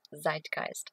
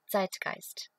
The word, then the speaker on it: zeitgeist: all those words like the zeitgeist which is not pronounced zeitgeist at all it's zeitgeist oh my god i